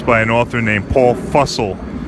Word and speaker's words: Fussell: I read a few excellent books by an author named Paul Fussell. It's spelled like Russell, but with an F.